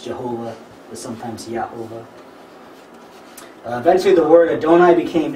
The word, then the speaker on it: Jehovah: vowels for Adonai and if you read that phonetically it says Yahovah. Which isn't the way that Yod Heh Vav Heh is pronounced in Jewish scripture, but that's how we get the name Jehovah in English.